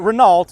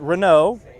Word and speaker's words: Renault: scoots around man and it's not Renault it's Renault when I was a kid I would mispronounce it but not as a grown-up now if I'm grown-up